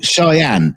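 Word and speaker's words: Cheyenne: ch oh it just oh shyenne oh oh it's pronounced cheyen no it took me years to make that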